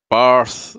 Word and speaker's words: Bath: The Flaming Tunner says, it's not Bath like you bathe, it's Barth. Sorry, the posh side of me coming out. Oh, of course. It's not Barth at all, it's Bath.